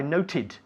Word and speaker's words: noted: Okay, this is a regular verb, to note, but it ends in a T sound, so we have to add the extra syllable. So it's note, every day I note, yesterday I noted, noted, not noted, noted, noted.